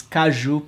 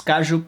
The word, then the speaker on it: caju: If you are not Brazilian, you should properly pronunciate, okay? It's caju pasta, okay? That's it. It's caju pasta, metcas, caju pasta with cheese and bread and espresso.